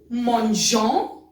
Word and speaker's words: mangeons: Nous mangeons. Mangeons. Now E has no sound as such, but still we write E.